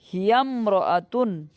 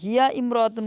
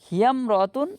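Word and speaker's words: هِيَ امْرَأَةٌ: যেমন হিয়ামরাতুন, এখানে দেখেন আলিফের উচ্চারণ, হিয়া ইমরাতুন কিন্তু হয় নাই, কারণ ইমরাতুন শব্দের আগে কি আছে, আরেকটা শব্দ আছে, এজন্যে হিয়া ইমরাতুন না হয়ে হিয়ামরাতুন, হিয়ার সাথে মিলিয়ে পড়া হয়েছে।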